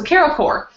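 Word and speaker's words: Carol Corps: Is it Carol Core or Carol Quartz? Because I've never actually heard it out loud. I've always said Core. Yeah, I mean, because that's how the word is pronounced. Yeah. But, okay, so Carol Core.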